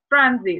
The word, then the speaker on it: transit: Transit. Смотрите, ударение на первый слог.